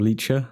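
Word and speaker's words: Licha: A lot of people going very high for Lycha, or Lycha as it's pronounced.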